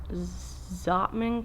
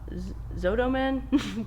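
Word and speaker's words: Zottman: gonna pronunciate this right zotman curls i always thought it was zotoman but there was no o and i thought it was z-o-t-t-o man but everywhere it says zotman z-o-t-t-m-a-n anyway it's basically like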